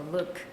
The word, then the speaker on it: LIWC: We trained the SVM model based on the strong sentiment words from LIWC, pronounced as a Look 2007's dictionary.